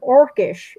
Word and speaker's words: orcish: In his late post-Lord of the Rings writings, he preferred the spelling orc, evidently mainly to avoid the form orcish, which would be naturally pronounced with the C as S instead of K.